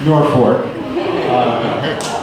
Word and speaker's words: Norfolk: Ryan Bachman, who's from the neighboring town of Norfolk. Did I pronounce that right? You pronounce it the right way, but not the way that you say it. How do you say it in Norfolk? Norfolk.